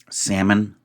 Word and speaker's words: salmon: better connected straddle corporate salmon we know of course in Salmon the L's not pronounced but I don't really